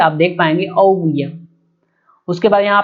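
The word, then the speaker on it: ouguiya: और इसकी जो करेंसी है वो है औविया, ठीक है, आप देख पाएंगे औविया।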